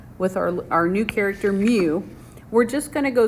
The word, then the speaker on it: mu: new little creature here it's mu is how you say that so that scripty looking m you say is mu it just says the